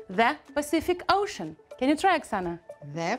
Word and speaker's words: Pacific Ocean: so have a look the first letter C we pronounce as Pacific the last letter C we pronounce as COO the Pacific and also we have it here in ocean we pronounce this ship ocean do you realize that we have the same letter but we pronounce in three different ways that Pacific Ocean can